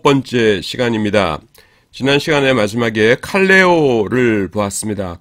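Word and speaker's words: καλέω: 지난 시간에 마지막에 칼레오를 보았습니다. 칼레오. 콜과 뜻이 같고 발음도 비슷하죠. 칼레오 콜.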